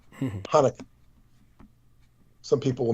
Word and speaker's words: Hanukkah: silent because you know if you know the word hanukkah spelled ch the c is silent hanukkah some people will mispronounce it chanukah who've never heard of